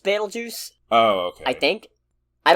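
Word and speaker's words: Betelgeuse: named well Batel it's I think it's still pronounced battle juice oh okay I think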